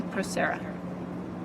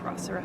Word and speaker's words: procera: So in step 2, this is mostly procera, or procera, however you want to pronounce it.